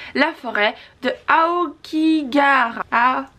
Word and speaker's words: Aokigahara: Attention, prononciation. La forêt de Aokigahara. Aokigahara, voilà.